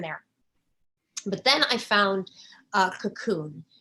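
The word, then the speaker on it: Kaqun: But then I found Cocoon. It's out of Hungary. It's a liquid oxygen. It's spelled like cackling, K-A-Q-U-N, Cocoon.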